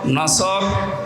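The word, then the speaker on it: نصر: নিয়েন আমরা তাফসীরুল কোরআন মাহফিলে প্রবেশ করছি সূরা নসর কোন সূরা বলেন বলেন নসর না নাসর নাসর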